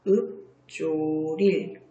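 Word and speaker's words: 읊조릴: 얘는요, 뒤에 게 소리가 나니까 비읍이 비읍으로 변해, 피읍이 비읍으로 변해서 읍조릴.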